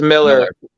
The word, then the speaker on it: Millar: War wanted in Kingsman is it Mila or is it Miller it's Miller Brandon yeah Brandon Powers made it very clear that it's Miller is it's a common mispronouncing everybody actually I talked with uh one of the artists at terrific contoon they corrected me when I went to say malar and they were like Miller I was like oh